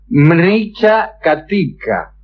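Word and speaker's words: Mṛcchakaṭika: Bueno, se llama Carrito de Terracota, que como todos ustedes saben en en el sánscrito se dice mricha catica. Mricha catica. Eh, es muy difícil de pronunciar aún para mí que soy este el sáncrito del sur.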